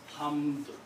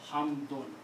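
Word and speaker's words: حَمْدٌ: When you speaking this word and you don't want to continue, you stop, then only then you will pronounce this hamd. But if there is another word after that and you cannot stop, you have to pronounce hamdun.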